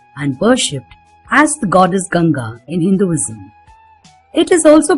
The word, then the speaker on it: Ganga: The Ganges, pronounced Ganga in most Indian languages, is one of the